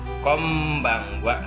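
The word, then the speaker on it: こんばんは: untuk pernah belajar jadi n berhadapan dengan huruf b ini dibacanya m ya jadi Hai konbanwa jadi Kombang Wa Widya Kombang Wa artinya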